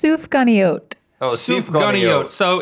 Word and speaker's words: Sufganiyot: Oh, Sufganiyot. So it's a. Y'all got this from a donut store, I can tell. So we've got a raspberry-filled donut. Jelly-filled donut. You call it a Sufganiyot.